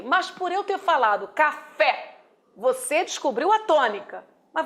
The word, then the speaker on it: café: escrita Claro e lógico se eu pronuncio café café você descobre Qual é a sílaba tônica Sim professor é o fé Isso eu não falo café eu falo café a tônica eu jogo lá no final Ok mas por eu